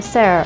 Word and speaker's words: Sarah: I am Sarah, or Systematic Artificial Recon Pilot Assistant Hybrid Intelligence. You may call me either Sarah or. S-A-R-A-H-I. Guess that last I is silent, huh?